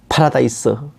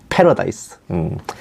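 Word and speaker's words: paradise: 에덴, 유토피아, 파라다이스, 원 발음으로는 패러다이스, 헤븐, 샹그릴라, 샴발라, 이거는 티베트나 인도 쪽에서 이렇게 말합니다.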